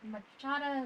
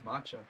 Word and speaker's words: matcha: Italian cookie cake with machada m machada is just another term for please excuse me Mach it says matcha matcha okay I can't pronounce